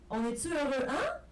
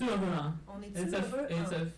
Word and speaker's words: On est heureux, hein?: Like a lot of people pronounce it like "On est heureux, hein?" And we're like, no, it's a soft affirmation. That's what it is. On est heureux, hein?